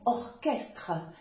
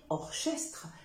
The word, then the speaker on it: orchestre: exceptions comme le mot orchestre il ne faut pas dire orchestre c'est orchestre où le mot écho écho